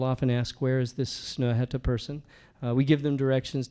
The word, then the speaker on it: Snøhetta: People always ask me, does that slash through the O mean I shouldn't pronounce it? Like, it's Snøhetta.